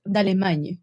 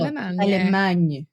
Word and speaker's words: Dallemagne: It's Dallemagne because she's Belgian, isn't she? Yeah. So it's French. Dallemagne. No, Dallemagne.